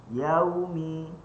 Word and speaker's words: yaumi: Maka cara bacanya adalah yaumi yaumi dan huruf mim bibir atas bibir bawah.